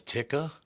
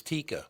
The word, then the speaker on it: Tikka: out cuz some people what do they think it was Tika it's Tikka pay attention it's a